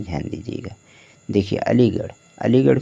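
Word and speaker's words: Aligarh: हो जाएगा ठीक है और आर ए से क्या हो जाएगा ड़ हो जाएगा हो गया अलीगढ़ इसी तरह से आपको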